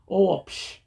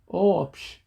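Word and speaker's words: ⲟⲩⲱⲃϣ: Omicron and Epsilon combo, then you add a W sound in between. So when you pronounce the whole word, it will be Oopsh, Oopsh, Oopsh.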